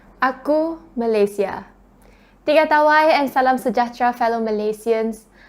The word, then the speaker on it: Malaysia: then that I was taught the right way of pronouncing our country's name so it's not Malaysia it's Malaysia and representing our country on